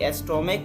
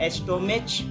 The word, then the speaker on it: stomach: Last में CH है, लेकिन यहाँ पे CH का प्रोनाउंसिएशन जो हम करते हैं वो क से करते हैं, है ना। यहाँ पे हम एस्टोमेच नहीं बोलते हैं, यानी कि च का उच्चारण नहीं होता है, यहाँ पे आपको क का उच्चारण होता है, इसलिए इसको हम लोग एस्टोमक बोलेंगे। ठीक है ना।